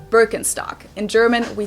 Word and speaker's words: Birkenstock: like if you talk about something typically German Birkenstock is definitely going to be mentioned but of